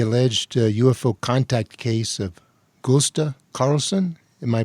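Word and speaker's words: Gösta Carlsson: Tell us about the alleged UFO contact case of Gusta Carlson. Am I pronouncing it correctly?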